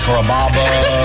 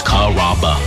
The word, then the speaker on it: Carrabba: Growing up, people always had a hard time pronouncing my name. People chop it up pretty good. You know, Carrabba, Carababa, Caramba. It's a really easy name to pronounce. It's Carrabba.